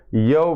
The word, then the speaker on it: यव: यव मतलब अगर ऐसे कहेंगे, शुद्ध हिंदी करेंगे तो जव हो जाएगा वो। ठीक, हाँ। जो जैसे सिंधु घाटी की सभ्यता में यव यव कहा जाता था, वो उसका उच्चारण जव बताया गया है।